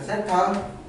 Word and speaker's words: θ: 돼 이걸 세타라고 읽어 th ETA 발음인데 내가 발음이 안 좋잖아 나 정확히 읽을 줄 몰라 그러니까 θ 라고 불러 자 어떤 각 세타가 일반각으로 표현했을